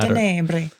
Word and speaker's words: Tenebrae: I was thinking specifically of maybe some Tenebrae or Tenebrae, depending on how you want to pronounce it, influences. When you got to say with some sort of Italian accent. Tenebrae.